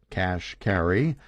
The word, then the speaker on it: Kashkari: high-level jobs at Treasury Neil Kashkari pronounced cash carry started out as a